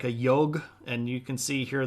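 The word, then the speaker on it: yogh: Here's your G, which is more like a yog, and you can see here that it's not pronounced the same way that we would pronounce a G all the time. It's got that y or the J sound, the j's.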